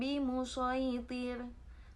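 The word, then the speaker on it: بِمُصَيْطِرٍ: Bimusaytir itu sodnya tidak diubah menjadi sin. Tanda bacanya seperti ini. Lasta alaihim bimusaytir. Tetap dibaca sod, tidak bimusaytir. Tidak seperti itu ya teman-teman semua.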